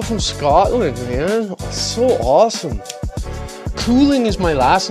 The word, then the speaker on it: Couling: Cooling is my last name. C-O-U-L-I-N-G. It's pronounced cooling. Like cool.